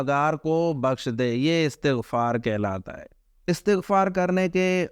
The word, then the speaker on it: استغفار: بعض لوگ کہتے ہیں استغفار، اس کا درست تلفظ استغفار نہیں ہوتا، جیسے چھٹے کلمے میں نا، چھٹا کلمہ استغفار لوگ کہتے ہیں، یہ استغفار نہیں ہوتا، اس کا درست تلفظ ہے استغفار، یعنی الف کے نیچے زیر اور سین کے بعد جو ہے تے کے نیچے بھی زیر ہے، استغفار۔ اس کا لفظی معنی